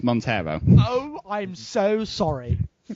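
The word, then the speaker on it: Monteiro: who pronounced what wrong you said mono it's Montero oh I'm so sorry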